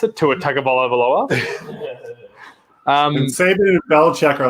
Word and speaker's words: Tua Tagovailoa: How did that guy say you pronounce it? Tua Tagovailoa.